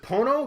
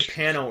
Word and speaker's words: Pono: Oh, was it Pono? Because I said Pano earlier. Yeah. It's an O.